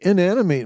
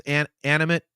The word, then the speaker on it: inanimate: Inanimate. Man, I get a bit of Prince in this riff. By the way, I I think it's an animate. Inanimate. I think I mispronounced that because I'm a goddamn fool.